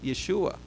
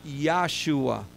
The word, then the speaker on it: Yeshua: So Joshua is known as Yeshua. And you could actually see it in Hebrew spelled the same way that we spell Yeshua today. By the way, his name is not Yahshua.